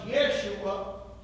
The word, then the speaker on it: Yeshua: I'm sure that's removable Joshua better pronounced Yeshua and hagiah were all